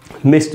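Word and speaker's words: missed: Pronunciation आपको बताता हूँ, ये जो डी है यहाँ पर मिस्ट में, इस डी का उच्चारण ड नहीं होगा, यहाँ पर डी से ट का साउंड बनेगा, ट, यानी इसको हम पढ़ेंगे मिस्ट, मिस्ट।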